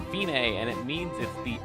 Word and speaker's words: Fine: half rest it looks like fine but it's pronounced Binay and it means is the end the finish